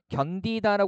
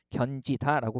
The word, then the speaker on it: 견디다: 음마가 일어나지 않습니다이를 뜨면 견디다 했을 때 요거 하나의 형태 소고 그죠 그다음에 지금이 앞에 디귿이 왔지만 이거 구의 음화 적용되지 않죠 해서 견지 다라고 발음하지 않아요 뭐 어렵지는 않을 거고요